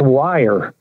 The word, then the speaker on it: Weir: up from the wire bob weir from the great that bottle pronounced wire he's flown me up